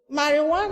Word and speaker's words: marijuana: But take note, when you are writing marijuana, write it the way it is spelled. Marijuana is spelled M-A-R-I-J-U-A-N-A, marijuana. But when you want to write it the way it is spelled and not the way it is said.